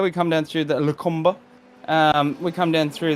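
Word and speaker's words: Les Combes: come down to uh there's a few ways to pronounce it but the lacombe is uh is the correct pronunciation as we come down through um here we come down through the lucumba um we come down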